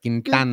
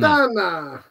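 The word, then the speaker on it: Quintana: right yeah Carlos kintana remember you got to pronounce it just right kintana kintana that's right that's right Danny Nagel where did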